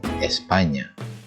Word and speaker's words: España: Jadi ketika kamu menemukan huruf ñ, jangan dibaca manana, nino, España gitu ya. Tapi yang benar adalah mañana, niño, España.